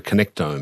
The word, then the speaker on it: connectome: And this is where we get to our whole idea, also leads us to our idea of what you call the connectome. Have I pronounced that right?